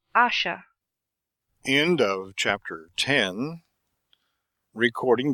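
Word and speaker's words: Ayesha: attitude stood the philosopher Asher please pronounce asha end of chapter 10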